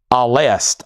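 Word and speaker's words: Alcest: That is alst. Oh, really? The band Alcast is pronounced al. The C is pronounced like an S.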